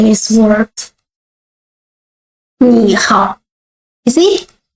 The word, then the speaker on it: 你好: 你好. You see? When two words all the third tone, we change the first word to the second tone, not 你好, but 你好, 我, 你好, okay? 你好 means hello.